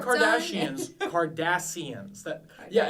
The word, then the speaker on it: Cardassians: Kardashians, Cardassians. Yeah, it's actually spelled with C.